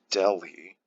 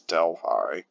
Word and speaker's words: Delhi: Western Hills Delhi yeah don't pronounce that Delhi like the Indian city it's Delphi any foreign name city